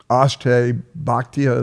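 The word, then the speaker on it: Akshay Bhatia: Ashtay Bhatia, is that how you say his name?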